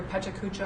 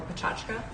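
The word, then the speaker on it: Pecha Kucha: Well, so the Ignite talks are based on I've heard it pronounced two different ways, either Pechakucha or Pachachka.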